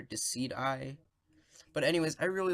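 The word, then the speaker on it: Decidueye: how its evolution so i believe it's pronounced dis seedway or deceit I but anyways I really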